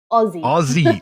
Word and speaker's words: Aussie: Which is it? Aussie. Aussie, as in Ozzy and Harriet or Ozzy Osbourne.